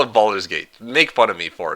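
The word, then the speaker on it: Baldur's Gate: It's literally the best example I can produce you how to pronounce the bald in Boulder.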